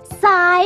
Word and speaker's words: sigh: But sometimes the GH at the end of the word is silent, like in the words do, though, sigh, and high.